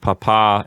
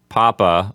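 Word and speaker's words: papá: remind our listeners that the accents on the last syllable of Papa and Mama mm-hmm we don't want anyone out there to say Papa or mama because that's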